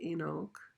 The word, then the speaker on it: Enoch: he in his bible he doesn't call it hanok he calls it inok inok which is a way that english would have pronounced it without the h because the cogna i guess the cockney english leaves h's off at the beginning so it comes out in oak instead of hanok anyway enoch lived 65